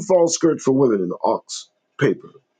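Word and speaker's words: Ochs: New York Times bought in 1896 by Adolf Ox pronounced o was a white supremacist newspaper they published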